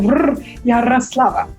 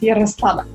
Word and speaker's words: Yaroslava: So I have Yaroslava. That's how we would say it, Yaroslava.